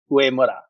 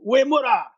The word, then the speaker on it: Uemura: Japanese, this Japanese name, it's technically supposed to be U-E, not U-Y-E, and it's supposed to be pronounced Uemura. That's way cooler. So if you want to sound like a samurai, you say Uemura.